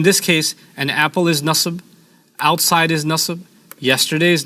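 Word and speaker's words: نصب: okay so in this case an apple is nusb outside is nus yesterday is nus quickly is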